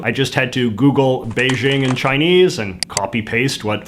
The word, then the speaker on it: Beijing: In China, the Chinese write Beijing like this and pronounce it in a unique tonal way that our clumsy Roman characters can't fully capture, sort of like Bay-ting.